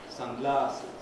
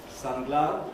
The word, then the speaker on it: sunglasses: course you know usually the first element of the compound carries the stress there are some examples there landlady pen knife teaspoon sunglasses if you pronounce those with the wrong stress pattern they are virtually incomprehensible sunglasses sunglasses that would